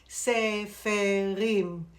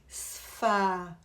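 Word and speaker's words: ספרים: For example, sefer a book, sefer, the plural is not sefarim. You hear it sounds like too awkward in the mouth. What you do, you contract it. Sfarim. You want to end up with two syllables.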